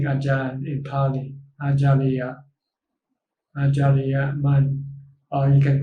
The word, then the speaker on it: Ajahn: japanese teacher in parties called acharya in time we call ajay it's the same word but different pronunciation in the book of